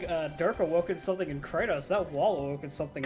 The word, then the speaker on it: Kratos: of war because well kratos is the way you're supposed to pronounce it i remember i got